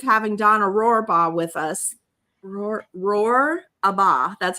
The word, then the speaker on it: Rohrbaugh: Rohrbaugh.